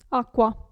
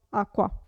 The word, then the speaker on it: acqua: cuscino e l'ultima regola Q si legge sempre Q acqua acqua e attenzione Ve l'ho già